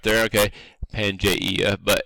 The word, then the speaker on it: Pangaea: Okay, Pangaea, but it's just pronounced Pangaea, and that basically means Pan means all, like